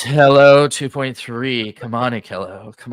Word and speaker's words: Hailuo: I thought you were actually still trying to pronounce Hailuo. It's hello 2.3.